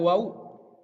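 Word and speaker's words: واو: Selanjutnya ada waw. Harus diucapkan secara jelas. Wow. Ininya mulutnya lebih mengecil ya.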